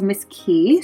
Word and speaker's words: Miss Qee: maker of this is called miss key so it's spelled um miss m-i-s-s and then key with a q-q-e-e i got a size